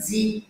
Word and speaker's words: vendredi: acho que é o segundo mais desafiador né vendredi de novo você pode separar as sílabas vred vred vred sexta-feira o dia da